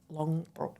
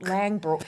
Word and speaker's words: Langbroek: people, and finances with Julia Morris and Kate Longbrook. Did I pronounce that correctly? You fumbled the ball at the I know. I just just wanted to Google it. Lbrook Langbrook.